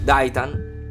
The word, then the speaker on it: Daitarn: Daitarn, che raccomandiamo di pronunciare senza la R, è uno dei robottoni più potenti disegnati nei cartoni giapponesi.